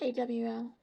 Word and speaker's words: awl: It's AWL. Oh, I guess is how they say it.